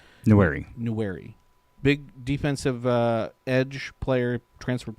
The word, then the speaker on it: Nwaneri: the big one is Williams Nwaneri, I think is how you say it. Nwaneri.